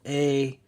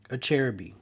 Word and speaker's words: Acerbis: A lot of people mispronounce Acerbis. It's called Acerbis. Acerbis.